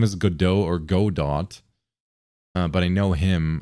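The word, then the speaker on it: Godot: It's pronounced like Godo.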